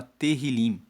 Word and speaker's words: Tehillim: Esse propósito nos foi dirigido pelo Espírito Santo e o livro de Salmos, no hebraico, ele se chama Tehillim. Se escreve T-E-H-I-L-I-M e Tehillim significa louvores.